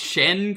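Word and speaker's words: Xian: Except it's pronounced Shen cuz it's it's Chinese.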